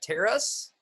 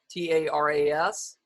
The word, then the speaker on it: Taras: I see, is it Taras? T-A-R-A-S? Is that Taras? Yes? Is that how you say it?